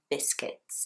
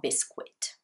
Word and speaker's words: biscuit: offers the client some biscuits okay some very nice biscuits it's not bisquit its biscuit okay important pronunciation tip here and the client